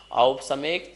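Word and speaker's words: औपशमिक: सब में औ लगा है, इस बात का ध्यान रखेंगे। ओ नहीं है, औ है। औपसमिक, छायकौ, भावौ, मिश्रस्य, जीवस्य, स्वतत्व, मौदयिक, पारिणामिकौ च।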